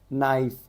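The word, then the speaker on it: knife: गया साइलेंट हो गया नाइफ के साइलेंट हो गया उसके बाद में क्या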